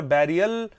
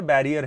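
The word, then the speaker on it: barrier: तो जिसे हमने बचपन से बोल-बोल कर बैरियल प्रूव करा दिया है। वो बैरियल ना होकर बैरियर है।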